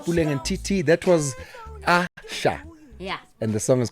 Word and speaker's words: Asa: That was Asha. Yeah. And the song is called Jailer. Calling her Asa for years. It's written. It's written ASA. Mara ke Asha.